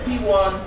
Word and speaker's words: PWAN: in on the opportunities that's about in the p1 business so we're going to start today by